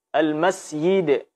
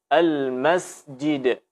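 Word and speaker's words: المسجد: kita baca Almasih ide Almas yide ini juga salah al Masjid Al masjid-masjid dibaca Ji bukan y Al musyidin kemudian kesalahan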